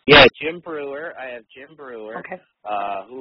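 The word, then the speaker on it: Breuer: Is that how it's pronounced? Yeah, Jim Brewer.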